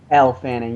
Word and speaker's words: Elle Fanning: Ellie Fanning? Elle Fanning, yeah.